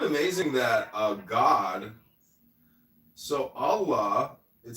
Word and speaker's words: Allah: The God in Arabic will be Allah pronounced Allah or which is simply God with capital G.